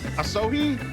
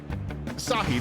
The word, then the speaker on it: Asahi: I'm gonna get his name wrong, but Asohi also down. Minfilia still nowhere to be seen. Ishtola still benched. Asahi, there you go.